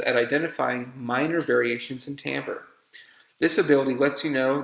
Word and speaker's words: timbre: Timbre, pronounced timbre, and is our way of defining the quality of the sound.